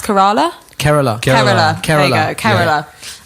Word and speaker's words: Kerala: I think it's pronounced Kerala.